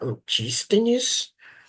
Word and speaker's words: Antístenes: Então, a gente tem alguns eh filósofos eh do cinismo que a gente chama eh que foram ah antines, acho que é assim que pode pronunciar, antístenes.